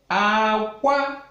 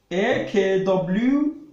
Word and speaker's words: akwa: And akwa, high tone, means egg. It means egg. If you now write AKWA aqua, instead of aqua, it now carries low tone, aqua.